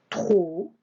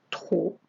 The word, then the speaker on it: trop: On avait le mot-outil trop, avec le P qui ne se prononce pas, trop, et plusieurs, trop, plusieurs.